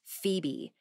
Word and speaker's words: Febe: humility and sincerity but everybody called her Phoebe pronounced Phoebe thanked the universe for that her sister was